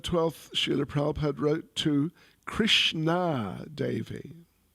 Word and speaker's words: Krishna: Sheila Prabhad wrote to Krishna Davyi Krishn not Krishna Krishna long a Davy so it's a Lady with the name Krishna Davyi Krishna with a long a is name of Dropy.